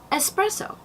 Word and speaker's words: espresso: Now, much like especially, the word espresso for the very strong coffee drink, it does not have an X in it, and neither does escape. There's no X, so no escape, espresso.